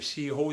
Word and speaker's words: sirop: concentrar, que hace le sirop d'érable. La buena miel de maple. ¿Cómo se escribe? Así. Sirop. Se escribe con la P, pero que no se pronuncia la P.